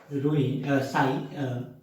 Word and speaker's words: psi: So basically he given the equation in the form of like this, that is we call psi is known as we pronounce it as psi, it is a Greek language, and here the psi is known as a wave function.